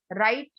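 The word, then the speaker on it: write: राइट, राइट में डब्लू, W silent है ये लेटर।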